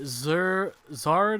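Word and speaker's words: Xrd: We were playing Guilty Gear Zard, I believe it's pronounced.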